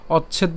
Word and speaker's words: অচ্ছেদ: একটু খেয়াল করতে হবে এখানে আমাদের চ দুটি যুক্ত অবস্থায় আছে তো আমরা যেটা করব সেটা হচ্ছে অচ্ছেদ উচ্চারণ করছি অর্থাৎ অ চ পর্যন্ত নিয়ে আসলাম অর্থাৎ একটা চ পর্যন্ত নিয়ে আসলাম অচ এরপর ছ এর সাথে ইকার নিয়ে আমরা দারণ করছি ঠিক আছে তাইলে কেমন হবে ছেদ তাহলে উচ্চারণটা কেমন অচ্ছেদ ঠিক আছে অচ্ছেদ এখন